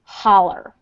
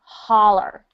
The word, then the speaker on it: holler: It's actually pronounced holler. Like the O is pronounced like an ah sound. Holler.